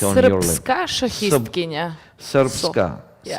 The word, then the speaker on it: Srpska: Srpska. Yeah. Srpska.